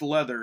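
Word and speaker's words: Läther: Pronounced Leather, I guess, is what I've heard.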